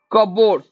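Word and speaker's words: cupboard: एमिति रहइबो तो डेट हेले कोन हो बी साइलेंट होछ आंसर कोन हो सी कपबोर्ड कपबोर्ड कपबोर्ड माने के रु स्टार्ट होछ कि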